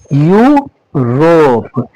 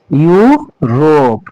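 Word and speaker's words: Europe: इसका उच्चारण यू और इसको हम करेंगे रोप। ठीक है? यू रोप। यू रोप।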